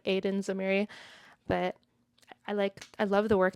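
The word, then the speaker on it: Aidan Zamiri: I think the director that she's working with, Aiden Zamiri, I pronounced it that way because I'm American. It looks like Aiden Zamiri, but I love the work they're doing together.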